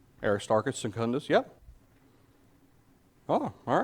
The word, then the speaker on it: Aristarchus: Aristarchus? Yeah? At least I assume that's how it's pronounced. Aristarchus, yeah? Acts 19, he's mentioned as a companion. Yep, Aristarchus.